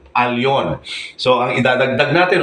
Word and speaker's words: Elyon: itinatama po natin yung mali na Nakasanayan Nasanay na po ang marami na akala is ang pagbikas dito ay L ito ay Elon mali po ang tamang pagbigkas ay Al alon so ang idadagdag natin